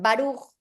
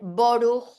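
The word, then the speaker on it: ברוך: Por eso los sefaradim dicen barug, los ashkenasim dicen borug, otros dicen burug porque no se sabe cómo era originalmente.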